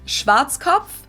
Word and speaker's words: Schwarzkopf: In German, Schwarzkopf. we pronounce it Schwarzkopf, which literally means black head.